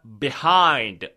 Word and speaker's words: behind: 하는게 자체가 어떨 때는 behind behind 이렇게 발음 되고요 어떨 때는 behind behind 이렇게 발음 돼요 다시 한번 behind behind 이렇게 말하면 돼요 이해되면 숫자 3번 눌러보세요 behind behind 절대로 비하인드는 아니야 그렇지 않아요 비하인드는 아니야